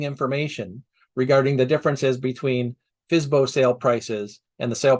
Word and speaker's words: FSBO: homes for sale by owner, or FSBO, often pronounced FSBO.